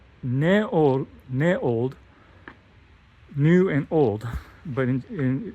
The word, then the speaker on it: NEOLD: area and so this is a called ne ne old new and old but in they said it's pronounced NE old and so it's a private